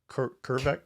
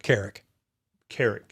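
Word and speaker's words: Kerik: I'll get his last name wrong. Bernie Kervek? Carrick. Yeah, Bernie Carrick.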